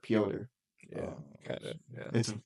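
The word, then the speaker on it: Пётр: In Russian, that's more like pronounced like Piotr. Yeah, kind of. Yeah. It's the Russian. So that's how you spell Peter then. In Russia, it's Piotr Yan.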